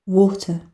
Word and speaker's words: water: Water, water. Water. Water. আচ্ছা, আরেকটা কথা বলে দেই, ব্রিটিশটা সাধারণত আর এর উচ্চারণ করে না, আর আমেরিকানরা স্পষ্ট ভাবেই করে।